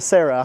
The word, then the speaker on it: Sera: 1993 Toyota Sera, I guess is how you pronounce it? Yeah, that's right. It's a Toyota Sera, huh?